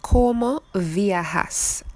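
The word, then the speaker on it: ¿Cómo viajas?: los mudos de transporte now this question is pronounced coma viajas and it means how do you travel so if como viajas means how do you travel what do you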